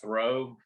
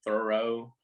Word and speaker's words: Thoreau: e h u but they pronounce it throw thoreau some man anyways it's